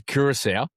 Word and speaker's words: Curaçao: But The country's Curacao. That's how it's pronounced.